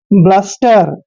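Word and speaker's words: bluster: एस टी ई आर बी का उच्चारण दोस्तों हम ब करते हैं एल यू को हमने ल लिखना है एस का उच्चारण आधा स करेंगे और टी ई को ट पढ़ते हैं आर को हमने र लिखना है ब्लस्टर ब्लस्टर होता है दोस्तों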